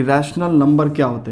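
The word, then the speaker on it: rational: और टॉपिक जो हम लोग पढ़ने वाले हैं इस वीडियो में that is रैशनल number and there decimal expansion. So correct pronunciation is रैशनल number, right, it's नॉट रेशनल।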